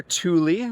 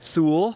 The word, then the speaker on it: Thule: So, so the brand, we are Tuli. We often get thu, which makes sense as far as pronouncing the brand, but we're a Swedish brand.